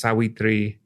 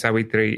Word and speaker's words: Savitri: In Thai, it's actually pronounced Sawitri, which is kind of funny because we just called her Savitri. But her name is Sawitri.